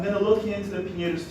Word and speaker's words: Pinheiros: How is it pronounced? Pinheiros. Pinheiros. Okay, that was not that hard as I thought.